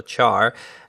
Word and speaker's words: char: be of type char some people pronounce it car but I think it's still char and I'm going to